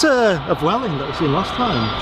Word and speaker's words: Vueling: I saw that was going today, and I realised why, and it's because View is like the cinema, and that's called View.